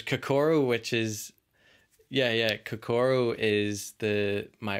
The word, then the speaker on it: Kokoro: it um there's kokoro which is yeah yeah kokoro is the my it's my final project film